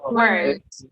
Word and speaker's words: weren't: So it sounds like we say weren't, but we actually do not pronounce the second E. So we just say weren't, weren't.